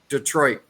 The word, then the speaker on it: Detroit: No, it's just Detroit. Then there's the mispronunciation of Illinois to Illinois.